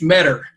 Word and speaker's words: Medor: Am I pronouncing that right? It's Metter, just like Metter.